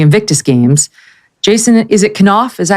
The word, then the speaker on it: Knauf: Sydney for the Invictus Games, Jason is it Knauf? Is that how you pronounce his name? Knauf, yeah.